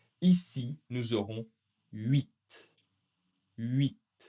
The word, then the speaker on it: huit: Encore une fois, un peu spécial, le T va être prononcé, mais le H le H surtout en début de vocabulaire n'est pas très souvent prononcé. Ici, nous aurons huit.